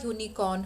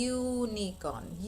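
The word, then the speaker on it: unicorn: जैसे कि अ यूनिकॉर्न होगा जबकि यू से स्टार्ट हो रहा है. क्यों होगा? क्योंकि वो कॉन्सोनेंट साउंड है, वो यह साउंड प्रोड्यूस कर रहा है, यूनिकॉर्न, यूनिकॉर्न. Therefore a यूनिकॉर्न, अ यूनिफॉर्म, a European.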